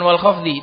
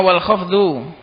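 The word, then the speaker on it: والخفض: itu walfdu yang betul bukan wal khfdzi itu salah yang betul itu bacanya wal khfdu Aqsamuhu arbaatun falabar.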